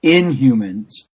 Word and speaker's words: Inhumans: Excuse me, but it's pronounced Inhumans.